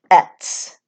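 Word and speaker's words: Aett: And speaking of the Elder Futhark, they are categorized or organized into 3 families or groups, also called Etts, which is spelled A-E-T-T.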